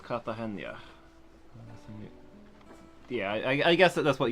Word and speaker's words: Cartagena: if ever the spirit Cartagena is pronounced katha Chania yeah I guess that's